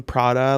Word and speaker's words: Prada: So I was dying at him pronouncing Prada like it rhymes with Barada.